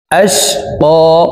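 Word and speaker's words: الأشقى: সায়াযাক্কারু মান ইয়াখশা, সায়াযাক্কারু মান ইয়াখশা ওয়া ইয়াতাজান্নাবুহাল, ওয়া ইয়াতাজান্নাবুহাল আশকা, আশকা এই কফকে একালিফ টেনে পড়ব।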